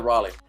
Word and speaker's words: Raleigh: Did I say the Raleigh?